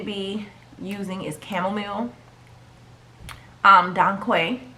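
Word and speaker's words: dong quai: using is chamomile um don quay i think i'm pronouncing that right i want to say don quay don kai is d-o-n-g and the next word is q-u-a-i um that herb is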